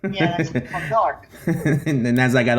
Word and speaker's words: Newark: N-E-W-A-R-K. Newark. Okay, Newark. For the life of me, it was N-O-R-K. Newark. If you're from Newark. Yeah, that's from Newark.